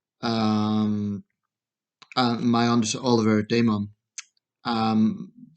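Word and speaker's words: Daemen: Um, my understanding, Oliver Damon. Um, the Damon, I think it's pronounced.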